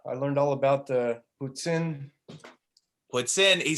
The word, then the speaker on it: poutine: I learned all about the Poutine.